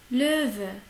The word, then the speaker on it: Löwe: Löwe, Löwe. On a dit déjà que O ou umlaut, il se prononce comme un E.